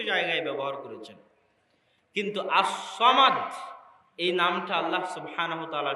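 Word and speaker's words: صمد: নামে আল্লাহ সুবহানাহু তায়ালা যে বর্ণগুলো ব্যবহার করেছেন সদ মিম দাল এগুলো হচ্ছে আরবিতে সবচেয়ে শক্তিশালী ওজনওয়ালা উচ্চারণ করতে হয় এইরকম বর্ণমালা দিয়ে আল্লাহ সুবহানাতালা তার এই নামটা সাজিয়েছেন। এই নামটার উচ্চারণও অনেক ভয়াবহ। সামাদ অনেক ভয়াবহ উচ্চারণ। সহজ উচ্চারণ নয়।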